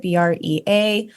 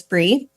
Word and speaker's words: Brea: and I spell it B rea, but I always tell people it's Bri like the cheese cuz people often say Bria or you know Brea or something like that. So it's Bri.